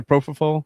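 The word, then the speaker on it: propofol: Prof., How do you say propall?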